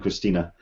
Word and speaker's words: Christina: Hello, Christina. How are you? I'm okay. I'm going to just get it out there. The pronunciation of my name is Christina, so it's a flat E on the end.